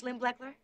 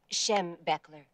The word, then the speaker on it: Schembechler: Is that 100% cotton, Mrs. Schlimbleckler? The name is How do you say your name again? Schembechler. Schembechler, Schembechler.